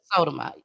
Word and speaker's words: Sotomayor: I pronounce it Sotomayor.